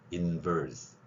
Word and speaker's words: inverse: 그러면 bus와 verse 이 두 개를 한국인들은 같이 발음합니다. 그래서 인버스, 리버스 그러는데 verse와 bus를 구별하시라는 이야기입니다. 영어에 리 발음이 있기 때문에 여기에는 제가 훈민정음 창제 당시의 글자인 비읍 아래 작은 동그라미를 가져온 소리, 윗니로 아랫입술 물고 내는 소리를 하시라는 거예요. inverse. 그 다음에 그 차량의 PRND로